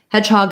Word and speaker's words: hedgehog: red tent vowel hedgehog hedgehog is a compound down so primary stress on the first syllable but also a little bit of stress on the hog so you don't want